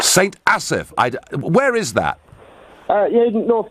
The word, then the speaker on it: St Asaph: How do I pronounce the name of your town, Neil? St Asaph. St Asaph.